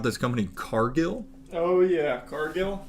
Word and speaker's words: Cargill: Cargill? It's pronounced Cargill. Oh, it's French.